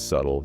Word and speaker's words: subtle: It is spelled s u b t l e, but we do not pronounce the letter b at all. The b is completely silent.